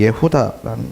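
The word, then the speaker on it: יהודה: 유대인들을 말하는 거죠 이제 유대인의 그 히브리적 발음이 예후다 발음입니다 예다인이 이제 유월절이 가까워지자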